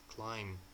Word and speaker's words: climb: She couldn't climb onto the roof. Climb. You see? Climb. B is what is silent, written but not pronounced.